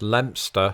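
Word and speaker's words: Leicester: two things number one this English town is pronounced lster and number two Linguistics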